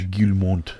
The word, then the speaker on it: Guillemot: Guillemot family. Yeah, it's French. Right? Yeah, it's French. I'm almost mad at myself. I said it right. Now that I know it's French. The Guillemot family who owns Ubisoft